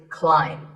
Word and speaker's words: climb: A quick note, in the pronunciation symbols that you see on the screen, the AI is an I sound, not an A sound. So the word is climb.